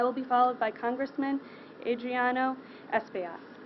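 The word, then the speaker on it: Adriano Espaillat: thank you i will be followed by congressman adriano espio she pronounced my name right thank you captain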